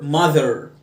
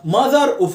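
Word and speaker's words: mother: زي الشورت يو ار اعمل ار ماذر ما تقولش ماذر يبقى مش ماذر وفاظر ولا مازر لا كل حاجه لها فاذر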